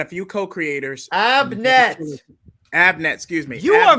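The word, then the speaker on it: Abnett: and wrote a good story for that keep abernet on Aquaman yes even even with wait abernet and a few co-creators up next Abnet excuse me you are mispronouncing people's names like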